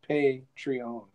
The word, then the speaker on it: Patreon: Yeah, that's how they should actually pronounce it, is Patreon.